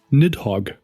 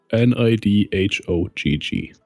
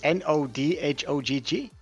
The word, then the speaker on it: Nidhogg: Nidhogg. With double G. I'm gonna have you to spell it out for me. Nidhogg 2. I only have the first one. Oh, Did you say Nodhogg?